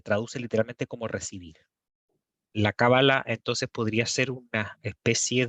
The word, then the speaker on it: Kabbalah: poco qué es la Kabbalah, porque esto es una palabra en hebreo, que las palabras en hebreo en general son agudas, por lo tanto le puse el acento en la A, aunque tiene otro tipo de grafemas y de fonemas.